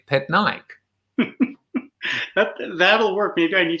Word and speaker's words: Patnaik: right pet nike but it is pronounced so i've now phonetically uh written it out just in case i struggle to remember it pet nike that'll work maybe i